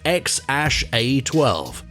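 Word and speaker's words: X Æ A-12: a baby boy together and his name is pronounced x-a-12 there's no denying that it's a very curious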